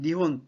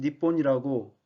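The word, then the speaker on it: 日本: 왼쪽에 있는 것이 히라가나입니다 한자로 일본은 니혼 또는 니뽄이라고 히라가나로 쓰고 그렇게 발음합니다 동아시아는 히가시 아제라고 있는데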